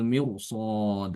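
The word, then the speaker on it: مرصاد: Jadi seperti kata mirsad itu dibaca tebal ya karena shad huruf istilla. Innbaka labil mirsod rnya dibaca tebal.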